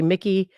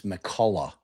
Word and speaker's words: McCullough: That was Deputy Paget, Deputy McCullough, Mc- Deputy Mickey, several other folks down there rendering aid. Your Honor, may I instruct the attorney how to pronounce that name? It's McCullough. McCullough. Thank you.